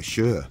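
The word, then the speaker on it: Sjöö: born artist Monica Shure I'm not sure if I'm pronouncing that right I've heard some people in here here in in in Britain call her Monica Shu I've heard others call her sh so I'm going with that but I'll call her monik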